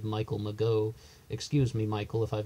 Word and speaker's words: Mageau: Ferrin and Michael Mageau he pronounces it Maggio I've always said Michael Mageau excuse me Michael if